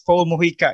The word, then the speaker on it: Mojica: front end okay so uh your name is paul morika your full name right yes correct do i pronounce correctly that's correct yes sir so uh